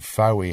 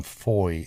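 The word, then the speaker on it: Fowey: I would say it's traditionally incorrect, but technically correct. Why? Because the word fow, meaning beech trees, is fow, not faw. But fowy has become foy in local usage. There's even a milestone that I've seen, an 18th century one with F-O-Y written on it. Foy. Fowy.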